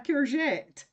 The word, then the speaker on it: courgette: It's pronounced somewhat Frenchy. Yeah, courgette.